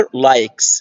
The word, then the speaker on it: likes: his شرط I sister، فاكر المستوى الأول R his sister likes. الكلمة دي مهمة جدا، كلمة likes دي بتتنطق غالبا بنقول عليها لايكس، ما اسمهاش لايكس يا جماعه، ما اسمهاش لايكس، هي شيل اس كده اسمها ايه؟